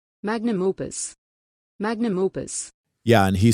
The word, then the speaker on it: magnum opus: Magnus Opus. I think so, yep. Pronunciation. Magnum opus.